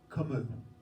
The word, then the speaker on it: Camus: name, it is pronounced, his French pronunciation of his first name would be Albert, and his second name is pronounced Camus. Camus.